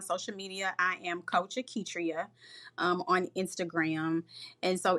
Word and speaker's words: Auketria: I am coach Aitria um on Instagram. And so, it's coach and then auk. I know that my name is pronounced and you know, it doesn't appear that a U would be there.